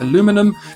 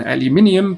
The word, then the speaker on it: aluminium: The Americans being delightfully stubborn stuck with aluminum because frankly they'd already printed it on things. The British, of course, insisted on aluminium because adding unnecessary syllables is our national pastime, right after queuing and being inherently passive aggressive.